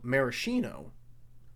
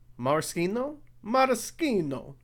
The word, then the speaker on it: maraschino: know how to pronounce i always thought the cherries were called maraschino but i guess that is a bit frenchy and those are italian so i guess the correct way is moroccano marschino i don't know just